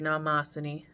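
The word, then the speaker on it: Mnemosyne: And last but not least, good old mother, mother goddess of memory, Namosin. I only know it's pronounced Namosin because of the pronunciation guide.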